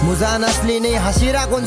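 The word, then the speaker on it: 柱: ब्रो सबसे पहले एक इम्पोर्टेंट चीज तो कि हशीरा नहीं, वो हाशीरा है, ठीक है। अभी वो थोड़ा प्रोनाउंसिएशन में होता है ऊपर नीचे, जो लोग नहीं देखते हैं एनिमी उन लोगों को नहीं पता होगा, वो हशीरा नहीं हाशीरा है।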